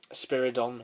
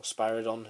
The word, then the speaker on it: Spiridon: on the planet uh spiridon or spirodon however you want to pronounce it as you see in